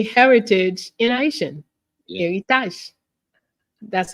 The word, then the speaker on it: Eritaj: Eritaj. That's how it is said and pronounced and written.